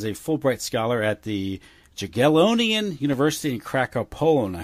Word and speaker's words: Jagiellonian: And did I pronounce that university in in Poland correctly? Jagiellonian University. Jagiellonian.